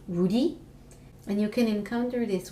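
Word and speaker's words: 우리: you is the word for we and it's pronounced Rudy and you can encounter this word a lot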